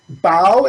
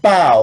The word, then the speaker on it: bao: i like it note bao is like bow like like this not bo like what's on your head yes there's a note